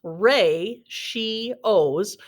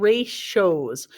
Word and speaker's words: ratios: a look at this word ratios it is pronounced rey she owes or sometimes you'll hear it called race shows so it's ratios or ratios and ratios show